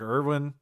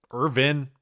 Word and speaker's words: Irvin: 138 and two for Cedric Irwin. Irvin, I keep saying it wrong. It feels like it should be Irwin or like something else.